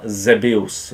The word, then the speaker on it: Xevious: V roce 1983 v Japonsku vyšla arkáda Zebius. Myslím, že u vás, ono se píše Xevious, asi určitě znáte. Já budu říkat japonsky Zebius, abych to nevyslovoval nějak blbě.